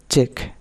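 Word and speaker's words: cheque: হ্যা rule number 13 শব্দের শেষে কিউ ই কিউ ইউই থাকলে এর উচ্চারণ হবে ক যেমন চেক মানে টাকার বরাদ চিঠি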